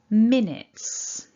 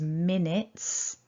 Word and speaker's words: minutes: that seems clear but the end of this word the way it's written can trick us into thinking we could pronounce it differently so we're aiming for